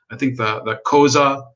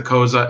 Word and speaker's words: Xhosa: You have the Zulu, the Xhosa. I can't pronounce their name properly, but it's the Xhosa, Xhosa.